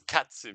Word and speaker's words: katsu: And cut, if you want to pronounce it the Japanese way, you know, it's like and it's katsu because there is no in Japan.